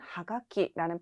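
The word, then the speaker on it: はがき: 그래서 옛날에 이렇게 입에 썼던 것이 지금까지 내려와서 엽서는 하가키라는 표현이 되었습니다. 이때 주의하실 점이 카쿠라는 동사에서 왔지만 타급 현상이 일어나서 가키라고 발음된다는 점 주의하시면 되겠죠.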